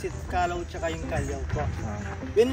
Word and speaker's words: Callao: Yung second pronunciation nila which is yung Callao. Callao po is Spanish word po yun ang ibig sabihin. Peaceful or quiet place po siya. Yung correct pronunciation natin it's Calao Cave po. Calao. Cal tsaka Lao po.